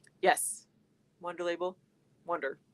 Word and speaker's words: Wunder: Wonder. Yeah. Yeah. Spelled like that.